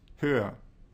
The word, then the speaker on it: höher: In this case, we add an umlaut to the vowel in the comparative and change the double consonant ch to a more pronounceable h. The resulting comparative adjective, meaning taller or higher in English, is pronounced höher.